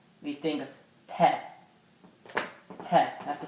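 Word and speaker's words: ث: Theh. It sounds like this. That's the sound it gives us. So when we see this word, these two letters, we think of Theh.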